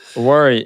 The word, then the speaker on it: Awari: I know, and help me pronounce this. It's Awari. Is that Perfect. Yes, all right? Awari. Cool. Yeah. Awari.